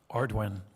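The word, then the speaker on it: Ardoin: thank you very much secretary Ordon did I pronounce that properly arduin arduan okay my wife's from Louisiana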